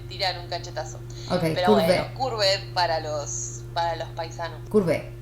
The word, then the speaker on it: Courbet: Sí, Gustave Courbet. Las T y las S no se pronuncian. Bien, Cada vez que las pronuncio me tiran un cachetazo. Okay, pero Courbet.